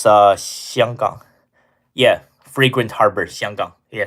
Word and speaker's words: 香港: Uh, proper pronunciation. What? Hong Kong. It's 香港.